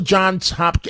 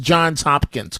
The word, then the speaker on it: Johns Hopkins: I'm only joking but but to go to John's Hopkin and it's pronounced John's Hopkins correct cor that's my understanding I never went